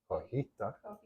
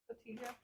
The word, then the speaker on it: Cotija: Cojita. Cotija.